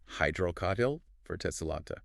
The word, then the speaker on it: Hydrocotyle verticillata: Hydrocotyle verticillata. You nailed the pronunciation.